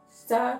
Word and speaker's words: está: The word está, if you want to pronounce it like a Portuguese person, you basically pronounce está without the E.